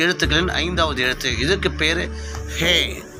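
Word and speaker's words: הא: ஹே உடைய சவுண்டு இங்கிலீஷில் லைன் என்ன லைனில் வருதுன்னா ஹெச் லைனில் வருது. ஹெச் for house, H for hours. So இந்த மாதிரி ஹெச் லைனில் ஹே செயல்படுகிறது. தமிழுடைய உச்சரிப்பு ஹே உச்சரிப்பு எந்த உச்சரிப்புன்னா ஹ, ஹே, ஹா, ஹே என்ற உச்சரிப்பில் செயல்படுகிறது.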